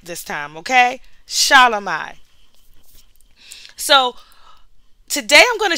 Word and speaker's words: Shelomi: Shelomi.